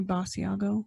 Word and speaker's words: Basiago: Okay, it's definitely Basiago. Basiago, but I've heard it pronounced like George Nori calls it Basiago.